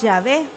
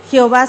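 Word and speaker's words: Yahvé: se pudiera pronunciar entonces ellos buscaron la palabra adonay que significa señor la incrustaron verdad ahí y de ahí salió la pronunciación jehová entonces históricamente el nombre de dios es llave jehová solamente es una composición que se hizo sin embargo jesús que lo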